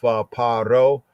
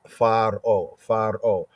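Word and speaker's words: פרעה: In the Hebrew context, as we have in the scripts, is paro, or sometimes pointed as pharo, great house, right?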